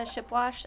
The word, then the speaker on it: Shipwash: wouldn't mind please uh state your name and spell it for the record and your address please yes it's shipwash s a m a n t h and